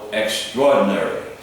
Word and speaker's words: extraordinary: No, extraordinary.